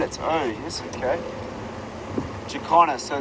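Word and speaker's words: jacana: did you find that bird how do you spell it oh yes okay jakarna so it's j-a-c-a-n-a-j-a-c-a-n-a let me just get a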